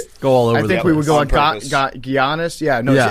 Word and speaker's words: Giannis: Also, I feel like it should be the end of this podcast intentionally mispronouncing Giannis's name.